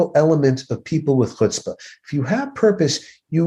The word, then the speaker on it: chutzpah: us to the word chutzpah, which some people pronounce chutzpah, because the ch sound is difficult for us as Americans.